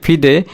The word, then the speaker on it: FIDE: তো ফ্রান্সের এটার ফুল ফর্ম হচ্ছে FIDE এর উচ্চারণ হচ্ছে ফিদে ইন্টারন্যাশনালে ডেস এসেস। ওকে, এটা ফরাসি শব্দ, বাট এটার মানে ইন্টারন্যাশনাল চেস ফেডারেশন ফিদের এটা।